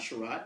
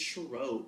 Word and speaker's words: Cherot: And it's called the T is Silent because when pronouncing my name, it's not Cherot, it is Cherot because... It's French. No, because the T is silent.